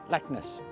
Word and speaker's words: Leknes: are, which is pronounced Leknes, Leknes, a bit like Loch Ness, Leknes. It was, the honour of